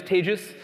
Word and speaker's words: Tejas: who don't know me my name is tagus that's pronounced like contagious um and I guess in England it's pronounced like contagious in it um how we doing